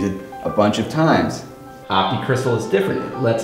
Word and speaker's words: Optixtal: right well try this op op op it's pronounced optic Crystal optic cryst that's right it's a new company